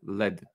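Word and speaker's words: lead: wiesz o co chodziło ołów to jest led led się wymawia ale pisze się tak jak l po angielsku automatycznie przetłumaczony jako ołów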